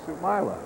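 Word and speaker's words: Soumaila: Sumila.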